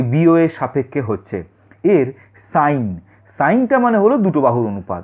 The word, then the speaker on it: sine: Theta, যেটাকে আমরা SINE সাইন বলছি। এখানে কিন্তু SIN কিন্তু সিন নয়, এখানেও উচ্চারণটা সাইনই বলতে হবে।